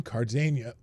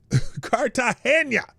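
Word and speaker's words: Cartagena: Summit of America signs in Cardania Card saying that name wrong. Cardahena Cartahena at the time of the trip.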